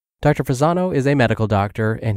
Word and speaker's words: Fasano: His last name is spelled F as in Frank, A-S-A-N-O. Dr. Fasano is a medical doctor,